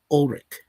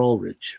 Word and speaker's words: Ulrich: So that is Skeet Ulrich, or Ulrich. Some people will pronounce it Ulrich.